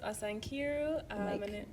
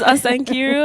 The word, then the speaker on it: Osa Nkiru: Hi, my name is Asan Kiru. Oh, hi. My name is Asan Kiru.